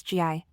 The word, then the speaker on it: gi: suits often used in karate and Judo is GI pronounced G interestingly the term GI actually means training